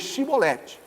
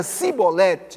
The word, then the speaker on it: Chibolete: Se respondia não, então lhe tornavam, dize pois Chibolete. Quando dizia Cibolete, não podendo exprimir bem a palavra, então pegavam dele e, obviamente, o tinham como inimigo. Por quê? Porque os efraimitas tinham uma forma de pronunciar e gileaditas outra forma.